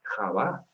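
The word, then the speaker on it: חוה: latín pero recompuso eva era con h al principio y respetando esa consonante cultural del hebreo ja que sin manos una consonante fuerte como nuestra jota la pronunciación del hebreo de java no se va a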